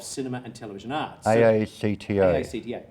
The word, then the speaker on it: AACTA: AACTA, pronounced ACTA.